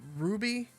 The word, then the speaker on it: RWBY: build this thing you know RWBY is it pronounced Ruby Ruby right Ruby yeah uh I know a ton of people